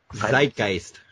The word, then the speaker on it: Zeitgeist: How do you pronounce that shit? Zeitgeist.